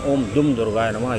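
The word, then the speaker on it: ॐ दुं दुर्गायै नमः: नमः डुम दुर्गाय नमः लोग इसका अक्सर गलत उच्चारण भी करते हैं ओम दुम दुर्गाय नमः कोई कुछ कह देता है लेकिन इसका सही उच्चारण ओम दुम दुर्गाय नमः यह श्री दुर्गा जी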